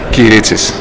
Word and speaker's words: Kyritsis: Y hoy nos encontramos con el profesor Kyritsis. ¿Así se pronuncia? Kyritsis.